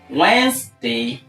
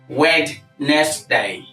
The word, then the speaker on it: Wednesday: word Wednesday now this word is transcribed or pronounced as Wednesday or Wednesday with the stress on the first label Wednesday now I've heard the law people pronounce this word as wedness day W next day excuse me nobody's wedding who